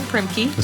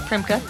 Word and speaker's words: Primke: And this week we talked to Paige Bennett Primka, which I was pronouncing Primkkey, now learned it's Primka.